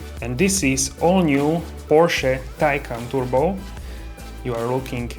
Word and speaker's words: Porsche: Porsche review and BS in German is a Porsche but in English some people say Porsche so the correct pronunciation is Porsche but this is not video about the pronunciation